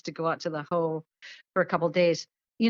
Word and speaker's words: Hoh: that ho is spelled hoh so it's heart of the hoh and hoh is pronounced ho so that's that's what